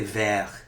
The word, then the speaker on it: vert: But then we say vert. We don't pronounce this T when it's a French word.